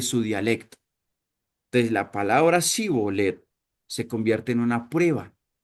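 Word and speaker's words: שִׁבֹּלֶת: Era la manera en la que pronunciaban esta palabra. Si la pronunciaban erróneamente por un sonido de como que con esa S en lugar de la SIH, o sea, ese era como el acentico, ese es como un acento simplemente.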